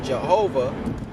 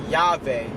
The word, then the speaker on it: Yahweh: So the Yod Hey Vav Hey, which most Americans pronounce as Jehovah, but it's actually pronounced Yahweh or something along them lines, Yahweh or Yahweh, some along them lines.